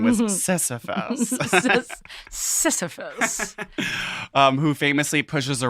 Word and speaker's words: Sisyphus: you did not that you got close to pronouncing was sisyphus sisyphus um who famously pushes a rock up a